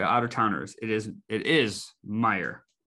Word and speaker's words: Meijer: clarify for the out-of-towners it is it is meijer it's not my ears it's correct a lot of people from out of the state who don't understand what it is they pronounce it myers it is it's here i see that all